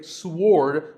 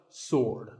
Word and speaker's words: sword: what about this word sword many people say sword but that is totally wrong it's just sword and here's one last word with silent letters